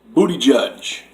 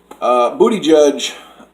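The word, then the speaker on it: Buttigieg: start with number five booty judge or Pete Buddha judge I think it's a say his name booty judge came out of nowhere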